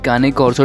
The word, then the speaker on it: Cane Corso: तो दोस्तों आज की इस वीडियो में हम बात करेंगे काने कॉर्सो डॉग ब्रीड के बारे में। अब मैं प्रेफर करता हूँ इसको केन कॉर्सो प्रोनाउंस करना, तो मैं सारी वीडियो